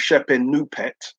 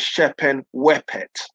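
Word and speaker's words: Shepenupet: shependent pet is um there's a hieroglyphic symbol which uh is normally transliterated into European languages as the letter w and we don't know how it's pronounced all the scholars say it's pronounced as a u so that becomes shepin nupet younger Scholars think it's pronounced as a w in which case her name is chepen wipette so I saw the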